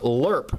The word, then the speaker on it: LRRP: range Recon Patrol and in another parenthesis it says it's pronounced lurp his file name is